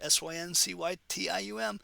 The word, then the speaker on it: syncytium: Kind of weird pronunciation there, S-Y-N-C-Y-T-I-U-M, syncytium.